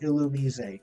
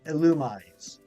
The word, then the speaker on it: Illumise: for it's this one I will never pronounce it illumise that is just stupid it's illumise like illuminate thank you like honey